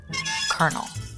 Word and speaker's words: colonel: And then after killing it in the Battle of Gettysburg, he was promoted to the position of colonel. I hate that kernel is spelled the way it is because it's like